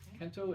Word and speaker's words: Kento: carve into the block they're called Kento marks Kento it rhymes with Bento that's what I remember